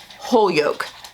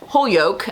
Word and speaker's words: Holyoke: some new englanders that posted the correct pronunciation of this holyoke i believe is correct now it may not